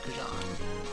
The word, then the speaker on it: xujhan: But yeah, the original canonical pronunciation of xujhan from when I invented the name is xujhan.